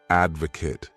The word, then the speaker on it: advocate: This word has 3 syllables, and the stress is on that first syllable, advocate.